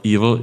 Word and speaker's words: eval: you can do eval is it is it pronounced evil like evil eval I don't know yeah for for us it's evil we call it evil so you can turn